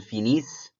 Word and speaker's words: finissent: Ils finissent, again, silent ENT.